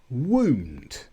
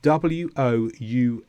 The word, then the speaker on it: wound: And we also have wound. Now this is when the letters W-O-U-N-D mean injury, wound.